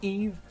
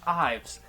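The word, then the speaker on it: Yves: that's y-v-e-s it's pronounced Eve not Ives if you say Ives fair I get it I see where that came from it's French though so that's why it sounds completely wrong she is not French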